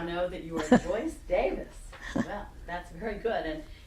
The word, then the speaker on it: Davies: It is a Welsh name, and the Welsh people pronounce it Davis.